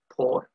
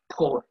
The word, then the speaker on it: por: the spanish equivalent of f4r it's people are pronounced poor so the spanish equivalent of the preposition for f1 it's called por p o and what we are going to